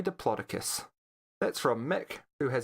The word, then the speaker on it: Diplodocus: __ ] you like officially it's supposed to be Diplodocus because that's how the discoverer or pronounced it but bucket you